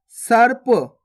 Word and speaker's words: सर्प: सा और पा के ऊपर रेफ की मात्रा, तो कैसे पढ़ेंगे? सर्प।